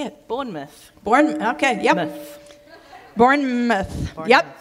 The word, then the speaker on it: Bournemouth: she runs a nonprofit Ministry called Street space Bourn mouth Bourn mouth is uh am I pronouncing that correctly nope nope not at all she's going to correct me but it's hilarious how do I say it Bournemouth Bourn okay yep bouth yep Street space it